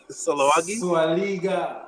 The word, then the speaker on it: Sulawesi: Sulawesi.